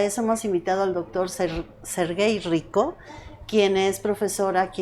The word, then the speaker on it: Serguei: Sergey, así se pronuncia.